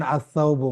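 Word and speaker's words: الثوب: যেমন ধরেন আসাউবু মানে কাপড়, এখানে কিন্তু লামটা জি জি উচ্চারিত ওটা হচ্ছে না।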